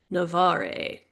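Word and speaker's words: Navarre: the strongest of the Navare. I'm just guessing at that pronunciation. I'm making it up. The fans are going to be really pissed and they're going to be like, "It's pronounced Navar. Sorry."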